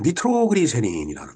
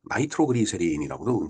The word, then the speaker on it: 니트로글리세린: 자, 니트로그리세린이라는 거죠. 바로 나이트로그리세린이라고도 이제 발음을 하는데 이 니트로그리세린을 연구하고 그걸 이용해갖고 이제 다이너마이트를 이제 발명을 한 거예요.